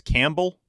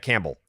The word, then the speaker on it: Campbell: is Camp right it's Campbell it's Camp Bell Campbell Campbell there's a p in there but it's Campbell C Campbell you would say Campbell